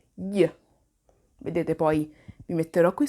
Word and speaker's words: gli: Mi raccomando, attenzione alla pronuncia, gli. GL si legge gli.